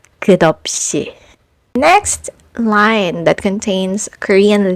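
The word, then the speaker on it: 커피: what happens is that the silent consonant borrows the sound of the previous final consonant. So instead of dissecting this word into three syllables by saying cop, you blend the sounds together and it becomes. So this Korean lyrics is pronounced as kopi.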